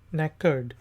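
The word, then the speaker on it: knackered: कनेकर्ड, नेकर्ड, इधर जो है के साइलेंट है और ये नेकर्ड से निकला है।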